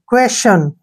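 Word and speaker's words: question: टी आई ओ एन क्वेश्चन ठीक है ना क्वेश्चन अब यहां पर टी को हमने क्या पढ़ा है च अब नेक्स्ट देखिए टी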